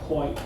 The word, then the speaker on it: Pointe: of right now is point Bellow and there's a tie there point is spelled with an E so it's like a ballerina on point who can pivot as she dances the facing right now